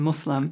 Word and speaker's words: Muslim: many different pronunciations but the most correct is islam and muslim muslim yeah we're and now